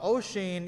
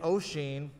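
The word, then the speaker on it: Oisín: and neve kenor uh ocean is spelled o s i uh o s o i n it's an irish uh spelling uh and neve is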